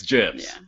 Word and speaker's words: GIF: it's not he's wrong the creator of the gif said it's gems just just to be a dick like the peanut butter okay yeah um well